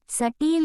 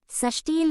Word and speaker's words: சஷ்டியில்: நமக்கு கிடைக்கும் என்பது நம்பிக்கை சட்டியில் இருந்தால் தான் அகப்பையில் வரும் என்ற ஒரு பழமொழியை கேள்விப்பட்டிருப்போம் ஆனால் உண்மையில் இது அப்படி அல்ல சஷ்டியில் இருந்தால் தான் அகப்பையில் வரும் என்பதுதான் சரியான உச்சரிப்பு ஆகும் அதாவது சஷ்டி திதியில் விரதம்